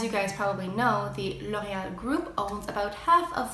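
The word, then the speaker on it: L'Oréal: gavel me so another great makeup brand is L'Oreal which is actually pronounced you know they added and as you guys probably know the Lohia group owns about half of the brands on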